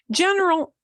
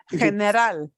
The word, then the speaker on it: general: But you need to pronounce it. You don't want to pronounce it general, or not right, general. Listen all the schwas, general, right?